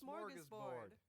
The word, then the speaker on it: Smörgåsbord: This is Smörgåsbord.